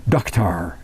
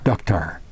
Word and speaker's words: dukhtar: But in Persia, that's Iran and over there in the Middle East, Persia, they say Dukhtar, daughter, Dukhtar. But it's spelled D-U-K-H-T-A-R, Dukhtar.